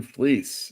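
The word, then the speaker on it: Fleecs: Fleece.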